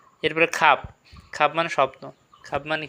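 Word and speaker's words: خواب: এরপরে খাব। খাব মানে স্বপ্ন। খাব মানে কি? স্বপ্ন। এখানেও কিন্তু ওয়াওটা উচ্চারণ হয় নাই।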